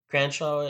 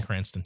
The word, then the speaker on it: Cranston: Just like when the rumors were that it was going to be Brian Cranshaw. I don't know how to Brian pronounce it, Cranston. Breaking Bad. Brian Cranston.